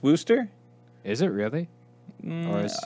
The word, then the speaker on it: Worcester: No, I don't think the CH is actually in it, but I know people call it Wooster.